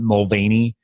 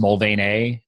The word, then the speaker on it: Mulvaney: Like here, everybody calls it Mulvaney. Over there, it's pronounced Mulvaney, and there's no Y on the end.